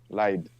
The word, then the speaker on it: Lied: Lelfen Lied, like the German word for song. Lied.